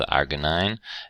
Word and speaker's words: arginine: INE, these all have INE on the end, but they're actually pronounced different. This is lysine, and this is arginine and histidine.